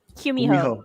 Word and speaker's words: Gumiho: Gumiho, technically.